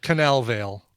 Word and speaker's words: Cannavale: Or Cannavale, is it pronounced? Bobby Cannavale? Cannavale. Just Google Bobby Cannavale already. Cannavale. I always get the Cannavale. Canal Vale.